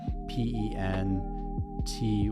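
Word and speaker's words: Pentyrch: It's spelled uh P E N T Y C H, but it said like Pent.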